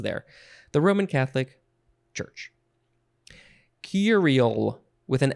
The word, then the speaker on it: curie: word virile v-i-r-i-l-e okay next we have curie or curie emphasize either syllable it is a noun from 1910 i think i will say curie yeah emphasis on the first one that's how i like it number one a unit